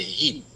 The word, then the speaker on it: Hiep: Yes, my name, first name pronounced like a Heep.